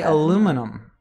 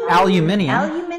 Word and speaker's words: aluminium: not being cold because americans say aluminum that's true we say that because it was a brand it was a brand name it is aluminum aluminium but aluminum was a brand much like coca-cola as a brand of